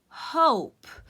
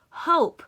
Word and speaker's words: hope: OL maiden ah now because there's the silent e the Oh says its name it says oh oh hope so I went from hop to hope let's take a look